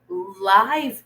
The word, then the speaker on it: live: Still using Oh, this time it's not live, it's live. So the students object to the use of live animals in scientific experiments.